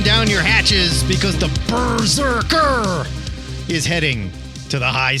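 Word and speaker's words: BRZRKR: I'm going to read the solicit here because every Berserker book is a little different. And I say it that way because it's spelled BR R ZR KR for those who don't know.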